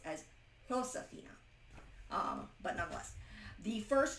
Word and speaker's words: Josefina: Um, the closest I do not speak Spanish, but the J is pron is pronounced as an H. So why I say Josephina, it would technically been have been pronounced as Josephina.